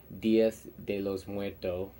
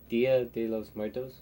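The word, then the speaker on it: Día de los Muertos: glow in the dark dias de los muertos dia de los muertos i'm sorry i was saying it wrong no matter how joker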